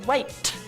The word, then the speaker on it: wait: teeth once more dear you haven't really got that weight that spit no you've got to say waight and you've got to spit it out spit I want to